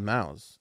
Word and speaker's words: Maus: How would you pronounce that? Mouse. No. Like a mouse.